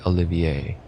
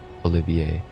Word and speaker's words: Olivier: And how to pronounce? Let's say Olivier.